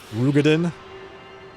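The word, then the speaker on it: Roegadyn: you going to become a female rogin rugen as they pronounce it in this expansion rugen ruged femo one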